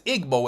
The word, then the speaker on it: Igbo: you before Nigeria's EO because Igbo is pronounced ebo if you ask a